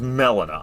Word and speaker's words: Melina: I can't believe that's pronunciation. Why is it melon? Uh, why is it not Molina?